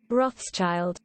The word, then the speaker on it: Rothschild: How do you pronounce that? Rothschild.